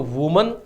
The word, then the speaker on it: women: तो वुमन, इसका जो सिंगुलर वर्ड होता है उसको हम बोलना चाहिए वुमन, और जो प्लूरल होता है उसका प्रोनाउंसिएशन होता है विमेन, ठीक है।